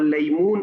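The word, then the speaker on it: ليمون: Lemon हम English में बोल रहे हैं, लेमू हम उर्दू में बोल रहे हैं, और लईमून अरबिक में हो रहा है।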